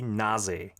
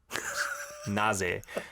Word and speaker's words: NAZE: So their official name is going to be Naze. Naze. That sounds like Saturi, like in Gyeongsangdo Saturi, Naje.